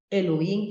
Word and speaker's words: Elohim: Y Se en Génesis pronuncia Elohim, se pronuncia ¿no? Elohim, sí.